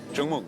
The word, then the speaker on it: chúc mừng: Uh chúc mừng. Chúc mừng.